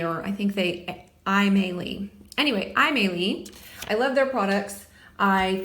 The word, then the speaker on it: Aimeili: Anyway, Aimeili.